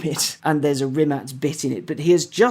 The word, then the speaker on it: Rimac: the C in kubika as he's sometimes pronounced it's a t yeah yeah so it's rimat not rimat and yeah had Goran